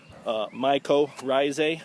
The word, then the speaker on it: mycorrhizae: Just proven to you that mycorrhizae products, mycorrhizae products is the correct way to say it, works, and sometimes it takes a little longer than others.